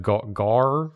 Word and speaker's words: Gawr: This VTuber's name is Gargura, but it's spelled G-A-W-R, like rar, but gar. Aww. Garsh. It's like Garsh. The first part of Garsh.